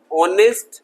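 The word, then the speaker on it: honest: तो यहां पे एच साइलेंट है। ओ से साउंड प्रोड्यूस होगा।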